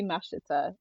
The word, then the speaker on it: Mashiter: um it's just Chloe Masher it's very much in my brain it's just you say it how it's spelled but that's as someone